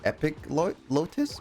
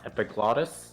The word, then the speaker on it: epiglottis: Just behind your epic lotus. What does a epic lotus is? Hey, dude. Yep. I believe it's pronounced epiglottis.